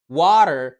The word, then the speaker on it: water: انت عارف ان في قاعدة بتقولك التي لو وقعت ما بين صوتين متحركين بتتحول لصوت اللايت دي، وعشان كده الكلمات دي بتنطق water daughter.